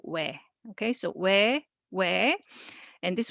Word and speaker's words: ㅚ: So this one is O plus E, but it over time it changed that we don't distinguish this sound but pronounce same as this one. So this O plus E is also we.